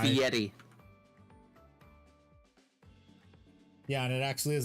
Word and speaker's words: Fieri: Fieri. Guy Ferrari. Remember, it's guy. Fieri.